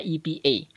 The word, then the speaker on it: APA: Tulisannya APA, bacanya EPA.